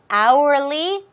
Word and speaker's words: hourly: Be careful with this pronunciation. The H is silent. H가 묵음인 거 다 아시죠? hourly wage.